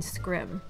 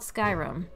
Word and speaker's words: Skyrim: He laughed condescendingly and said, "No, I mean Scrim." Thinking he was mistaken, I was like, "Oh no, it's called Skyrim." "No, it's not. It's pronounced Scrim."